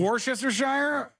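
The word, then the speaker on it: Worcestershire: usually on purpose but the way you said it is how I know to spell it yeah but I still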